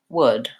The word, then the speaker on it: would: and the D and that's exactly the same as would so I would like some would there's no difference between those two pronunciations even though we have the spelling with two different vowels and we have that silent L so those are called